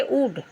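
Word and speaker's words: would: आया है तो इसमें भी हम एल का उच्चारण नहीं करेंगे बच्चों क्या बोलेंगे वुड वुड मींस चाहेंगे यहां विल का पास्ट टेंस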